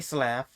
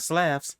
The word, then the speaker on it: Slav: Hey, Slav. I said it right this time, not Slavs.